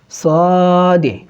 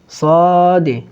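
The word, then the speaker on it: ص: সদে, সদে, এটা একটু মোটা হবে।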